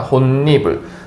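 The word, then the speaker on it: 홑이불: 이불이라고 합시다 자 여러분들이 호 이불 같은 경우에는 어떻게 혼니불이라고 발음이 됩니다 혼니불 자 여러분들 여기에서 봤을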